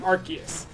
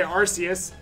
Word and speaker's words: Arceus: us how you are supposed to say Arceus. So, I didn't used to say Arceus. I used to think that was dumb. I used to always say Arceus, because that's... That looks like how it's spelled.